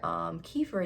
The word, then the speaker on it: kefir: You can get probiotics in many ways, not just from taking one, but you can get probiotics out of yogurt, kefir, I think that's how you say it, kombucha.